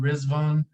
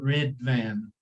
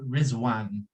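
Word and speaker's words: Riḍván: really say it like red van there's a DOT under the D and in the transliteration system it's pronounced as a z so from the Arabic pronunciation they say rizwan but the Persians say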